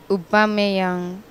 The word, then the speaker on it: Aubameyang: Perry album a young this is the right pronunciation for this Arsenal striker Pierre Emerick Obama young care America Obama and